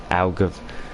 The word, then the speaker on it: Algarve: Will it be likes of Imola, Silverstone, Algarve?